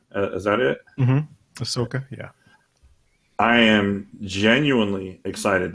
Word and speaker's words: Ahsoka: Ahsoka, is that how you pronounce her name? Is that it? Mm-hmm. Ahsoka, yeah.